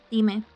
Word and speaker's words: dime: Dime. The I in Spanish is never pronounced as I, by the way. It's always E.